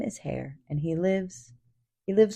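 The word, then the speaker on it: Haigha: His name is hair. He pronounced it as to rhyme with mayor.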